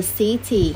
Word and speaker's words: city: Đấy, và mình đánh dấu nhấn ở số 1 là city.